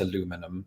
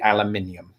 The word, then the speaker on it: aluminium: Well, I mean, if I was taking that spelling, I would pronounce it aluminum. But in everyday use, not that I use that word very often, I suppose, but if I were to do it, it would be aluminium.